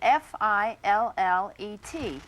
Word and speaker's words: fillet: The word that we use in describing fish is spelled f i l l e t and it should be pronounced fillet.